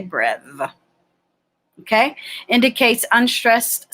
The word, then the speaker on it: breve: So the character that looks like the bottom half of a circle is called a breve or breve, some people say. I say breve.